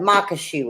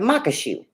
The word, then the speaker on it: maque choux: it without googling it cuz it's like you're gonna mock somebody as mock oh shoot like a shoe that you put on your foot it monk a shoe but I wasn't sure